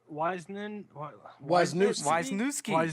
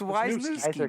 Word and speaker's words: Wisniewski: I think his name would be pronounced Wisniewski. I'm telling you, it's Wisniewski, man. John Wisniewski. Wisniewski. So. Wisniewski. Well, why don't we go ahead? Keep saying it. Wisniewski. It's almost like you're sneezing.